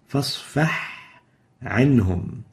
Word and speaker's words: فاصفح عنهم: We should pronounce it clearly. فاصفح عنهم. A ha should be clear and should not be merged into the ayn.